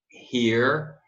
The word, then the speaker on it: hear: Did you hear, ó, EA, lembra do padrão lá, né? EA e longo.